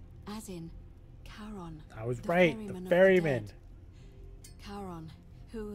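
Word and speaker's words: Charon: figure with a coin described it only your pronunciation is a little off the name you heard wasn't Karen no it was c h o n as in Caron that was great Berryman who in exchange for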